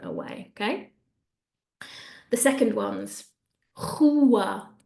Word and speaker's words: rua: The second ones, rua, rua. We have a word beginning with an R, which either gives us a R or a H. It doesn't really, it depends by region.